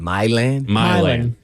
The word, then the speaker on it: Milan: Milan? Milan. Milan, right? Milan, Yeah. I guess. Not Milan. Oh. Not like how it's pronounced everywhere else in the world.